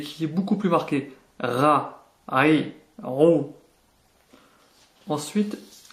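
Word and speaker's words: ر: La lettre suivante est le ra. C'est un R qui est roulé.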